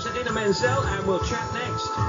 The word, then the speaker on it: Menzel: You said it nice, Idina, and I like to say Menzel. It sounds like oil.